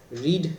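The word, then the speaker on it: read: মধ্যে ইজ বসবে বি ভার্বের form and রেড রিড রিডের third form কি রেড যদিও উচ্চারণ রেড হয়।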